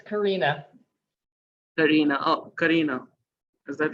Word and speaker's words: Karena: Can you tell me the right pronunciation? It's Karena. Karena.